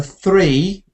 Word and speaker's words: three: you fixed that and the three with a th not t so you have a